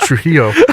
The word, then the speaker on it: Trillo: your last name trillo that's pronounced truo oh trillo oh yeah